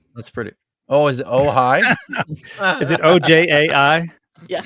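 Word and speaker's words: Ojai: church of OJ is that really how it's pronounced OJ in California oh high that's pretty oh is it oh high is it OJ AI yeah yeah that's the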